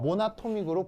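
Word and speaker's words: monatomic: 모음 두 개가 충돌하면 어떻게 되겠어요? 발음 발음이 불편해지죠. 그래서 이런 경우는 요걸 빼고 모나토믹으로 붙여 쓰는 거예요.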